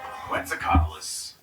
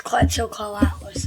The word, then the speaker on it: Quetzalcoatlus: Quetzalcoatlus. With a name that sounds like an Aztec deity, which in fact is the source of its name. It's Quetzalcoatlus as I pronounce it, but Quetzalcoatlus.